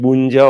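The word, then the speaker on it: Bounedjah: I just mentioned him, Bunja or Bunja.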